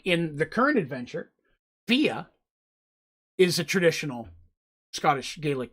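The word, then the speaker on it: Fiadh: names and stuff like in the current adventure fia is a traditional scottish gaelic name and it's f-i-a-d-e it's pronounced fia and so i uh her name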